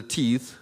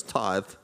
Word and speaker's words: tithe: how to pronounce it she said is it a teeth I said no it's tithe but she's been a